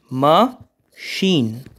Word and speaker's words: machine: is basically dislike you can see it is ma sheen okay so let's move to the fifth question